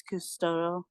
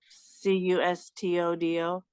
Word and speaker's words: Custodio: like you spell it kind of like custody, but it's custodio. Custodo. Oh no, that's not it. Sorry, Custodio, custodio.